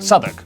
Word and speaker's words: Southwark: Oh, W at the start of the final syllable is silent. Norwich, Berwick, Southwark.